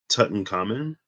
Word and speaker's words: Tutankhamun: the tomb of ancient Egyptian boy king uh, Tutankhamun, right? That's how you pronounce that. King Tutankhamun, as the ancient sun deity Ra joins with